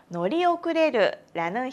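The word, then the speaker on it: 乗り遅れる: 놀이 遅れる는 동사 타다, 놀으와 늦다, 오크레르가 합쳐진 동사인데요. 두 개가 합쳐지면 놀이 오크레르라는 형태가 되면서 버스나 지하철을 같은 탈 것을 놓치다 라는 의미가 됩니다.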